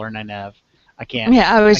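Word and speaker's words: Nynaeve: me I'm I'm just I like Nev I don't like the pronunciation Neve and you know get over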